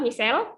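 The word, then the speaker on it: micelle: dengan lipase pankreas itu hasilnya adalah Michelle yang tulisannya micale ini ini kalau Bacanya adalah Michelle nah diameter misal ini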